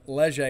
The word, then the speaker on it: Leger: I think Leger is how we pronounce it where I'm from.